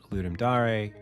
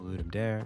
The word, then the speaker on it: Ludum Dare: You can check out Ludum Dare or Ludum Dare if you like to pronounce it that way.